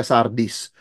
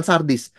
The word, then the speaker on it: Sardis: Itu gereja yang keempat dan masuk gereja yang kelima, wah, kita masuk gereja Sardis. Kalau kita salah baca, bacanya sadis saudara sekalian ya, tapi memang isinya agak-agak sadis juga begitu ya.